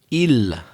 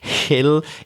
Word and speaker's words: hill: I think you said il, like that. A typical kind of French pronunciation of that word. But the letter H in the word hill, I'm exaggerating, hill, it is pronounced.